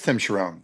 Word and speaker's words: Charron: Am I saying it wrong? Because that's what I've been... It is Tim Charron.